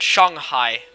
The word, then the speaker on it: Shanghai: I said Shanghai, pronouncing it like you would in Mandarin.